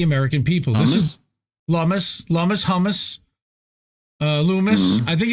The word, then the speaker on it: Lummis: Lummis. I think it's Lummis. I think it's pronounced Lummis.